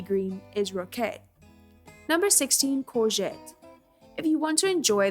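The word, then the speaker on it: courgette: Number 16, corette.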